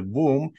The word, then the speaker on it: womb: the word wom um also rhymes with tomb so when we go